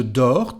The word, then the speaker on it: dors: So as usual, and I can hear, we don't pronounce actually the letter S nor the T, so it's just for writing.